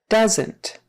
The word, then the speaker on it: doesn't: on where you're from doesn't doesn't another contraction that does have two syllables it's short for does